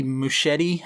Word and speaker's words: Muschietti: But since we're talking directors, right now it is set for Andy Muschietti, I think is how you pronounce his last name.